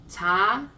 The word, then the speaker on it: 차: I know that this sound has a bit of ch sound as well, but they're different. 차.